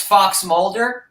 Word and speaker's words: FXMLDR: Oh, so yeah, that is it's Fox Mulder, like from the X-Files.